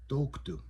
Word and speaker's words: toktu: So when you look at this word toku toku, so the stress is on the O toku. That's the part of the word that you're going to say the loudest toku.